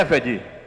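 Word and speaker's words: עבד: Na verdade a pronúncia é Eved, que é escravo, escravidão.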